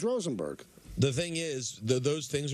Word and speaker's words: Rosenberg: Volpe it's not so Peter is not Rosenberg he's Rosenberg the thing is those